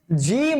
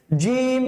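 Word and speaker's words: ج: হরফটা উচ্চারণ করার সময় জিম উচ্চারণ করার সময় আপনি বাতাসটা বের করে করা যাবে না জিহ্বার যে মধ্যখানটা আছে আমাদের জিহ্বার যে প্লটটা আছে যে স্লটটা আছে সেই স্লটের মধ্যখান যেটা সেই মধ্যখানটা আমাদের যে উপরের তালু আছে সেই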